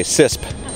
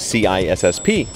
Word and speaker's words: CISSP: differently you jav it you say sisp although the official pronunciation is c i SSP uh but you know